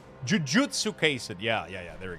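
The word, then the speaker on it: Jujutsu Kaisen: I'm just mispronouncing or miss like the wrong uh syllable. Jujutsu case.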